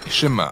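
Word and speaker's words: שמע: est écoutée ou entendre prononcer chemin en hébreu et c'est ce mot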